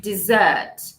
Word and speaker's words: dessert: name desert desert okay and then we have dessert dessert dessert desert desert dessert dessert here we're